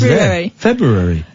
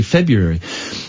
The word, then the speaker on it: February: February properly February yeah with the r i pronounced the r because it's February February some people just say February I don't why do